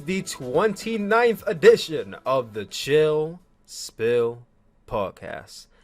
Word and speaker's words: Chill Spill: The S is silent, by the way. Yo, what is going on, guys? It's your boy Tyler Mask, aka Tyler Q Williams, aka Tyler Suplex, aka the one who lived. And welcome back. Had to say the back 3 times for you guys, cheap pop. To another exciting edition of the Chill Spill Podcast. And that is pill spelled with an S, but it is silent.